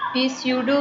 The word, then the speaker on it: pseudo: अच्छा एक यहाँ पे मैं लिख देती हूँ क्योंकि इसको प्रोनाउंस करना ही एक बड़ा मुश्किल काम है। इसका नाम है पीस्यूडो कहते हैं इसको, PSEUDO, पीस्यूडो।